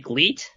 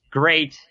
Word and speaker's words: GLEAT: right or you know people might be confused because it's filled with an l isn't it gleat no it's it's it's great and you know so